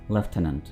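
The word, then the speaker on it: lieutenant: देखिए, इस वर्ड को हम प्रोनाउंस करते हैं लेफ्टिनेंट, ठीक है, लेफ्टिनेंट, लेफ्टिनेंट। इसको ना आपने लेफ्टिनेंट बोलना है, ना ही लेफ्टिनेंट बोलना है, बल्कि क्या है? लेफ्टिनेंट, लेफ्टिनेंट। यही इसकी सही प्रोनाउंसिएशन है।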